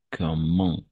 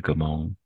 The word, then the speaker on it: comment: Il nage n'importe comment. Cette fois-ci, oui, on va prononcer ENT à la fin.